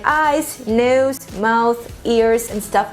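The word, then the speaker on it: нос: And now let's go down our face and we'll see the nose, and in Russian it's gonna sound like nos, nos.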